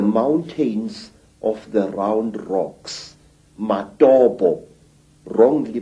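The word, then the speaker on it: Matobo: place called the mountains of the round rocks matabo wrongly pronounced matopo in in Zimbabwe these Hills are really not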